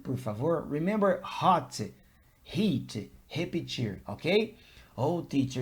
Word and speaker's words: repetir: In English, when I have the letter R, the pronunciation is repeat, ruler, road, okay? In Portuguese, it's more like the sound of the letter H in the word hot.